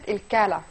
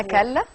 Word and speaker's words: كلا: هي اسمها كلا. كلا. رياضه والله الكلا. مكتوب عندي كالا، مش عارفه بقى. لا هي كاف لام الف.